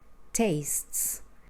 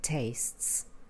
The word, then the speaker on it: tastes: person singular looks Cooks tastes looks Cooks remember we don't pronounce the e in tastes the adjectives that have